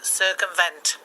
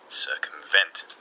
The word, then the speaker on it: circumvent: on sir and a largest respond vent so circumvent circumvent yes okay what can you tell me about